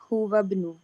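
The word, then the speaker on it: هو ابن: वो लड़का अम्मी, अमी, लेकिन इब्नु में हमजा जो ये हमजातुल वसल है, तो इसको कैसे प्रोनाउंस करेंगे? हुवा इब्नु। हुवा इब्नु।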